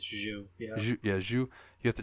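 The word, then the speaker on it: Xu: turns out to be, is it pronounced Zhu? X-U? Zhu? Yeah, something like that. I think it's Zhu.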